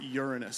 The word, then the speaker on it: Uranus: one other planet there some of you pronounce it like a body part but I'm going to pronounce it Uranus so they can play